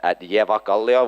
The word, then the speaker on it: Evakallio: can follow me at Evakallio, which is the correct way to pronounce it.